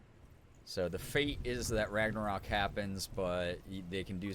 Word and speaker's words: Ragnarok: They call it Ragnarok, I know that. the destiny of the gods. Asgard will be attacked by Surt. Second R is pronounced as a exhale or A grunt monstrous after the wolf T, will like swallow the Surt.